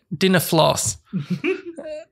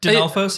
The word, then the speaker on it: Dinolfos: This is, I mean, you can pronounce it how you like, but you're mixing the L and the F in the wrong order. Like, you keep saying dinner floss. And so, Dinolfos? Yeah. Dinolfos?